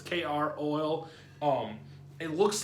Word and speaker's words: Kroil: have you tried croil i think it's croissant pronounced it's kr oil um it looks like the if you've ever